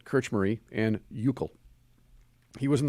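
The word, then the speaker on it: Krčméry: kirch murray kirch marie i looked this up so i could pronounce kirch marie and yukil he was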